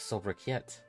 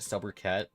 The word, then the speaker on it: sobriquet: An apt sobriquet. Is that how you say it? Sobriquet?